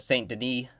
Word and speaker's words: Saint-Denis: like you said with st Dene is how you say it St Den yeah St Den is